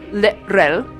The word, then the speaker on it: L'Rell: I'm Mary Chieffo, and I'm playing Lirel, that's how you say it in Klingon, on Star Trek Discovery.